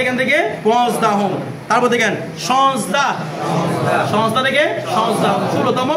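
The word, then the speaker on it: سیزده: এরপরে সিজদা, এটা সিয়াজদা না, সবাই একবার ফার্সি বলার সময় ভুল বলে সিয়াজদা বলে, কারণ হয়তো উচ্চারণ পড়ে ছিল তো, যার যেভাবে খুশি সেভাবে পড়তো এটাকে। সিয়াজদা না, এটা কি? সিজদা, সিজদা থেকে সিজদাহুম, ঠিক আছে।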